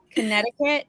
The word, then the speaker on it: Connecticut: all talking about loki connecticut yeah yeah that too oh because we skipped the second c yeah um connect we